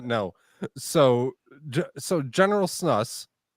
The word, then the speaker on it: snus: por Swedish Sno and it's pronounced Snus but so it's pop